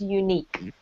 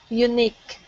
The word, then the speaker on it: unique: and the word unique make sure you pronounce the eek part more fully okay so it's unique unique yeah that's better great okay